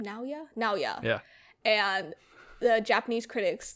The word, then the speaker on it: Naoya: Naoya.